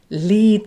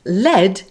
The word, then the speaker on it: lead: way but sound differently for example lead which is pronounced like this in a phrase like lead the way but lead pronounced like this as in lead pipe this is called